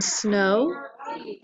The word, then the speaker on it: snow: OW together, as in snow. That W is actually kind of silent, or is silent, because it just sounds like a long O.